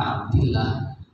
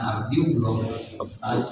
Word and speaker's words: Abdillah: Nah, kalau Abdillah, maka Abdillah bukan Abdiullah.